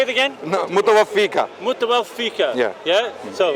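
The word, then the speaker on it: مُتَوَفِّيكَ: Ya Isa, inni, mutawafika, right? That's incorrect. Right. Mutawaffiq. Yeah. Your pronunciation is incorrect.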